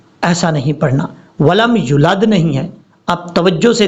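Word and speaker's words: يولد: یا واو پیش یو، ولم یولد، لم یلد ولم یولد، اس طریقے سے پڑھنا ہے۔ اب نیچے والی لائن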